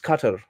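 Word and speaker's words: Qatar: क्या दिक्कत है नहीं इट इ actually pronounce कटर I don't pronounce कटर I pronounce कटार हा हमारी कटार जो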